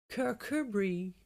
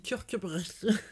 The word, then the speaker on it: Kirkcudbright: Kirkcudbright.